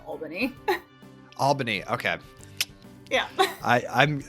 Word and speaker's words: Albany: join you um I will say it is pronounced Albany Albany okay yeah I I'm I've been in